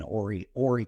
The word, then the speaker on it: Horry: So in our area here where we're at in Horry County, spelled with an H, USDA just came out along with the county and said, okay, homesteaders.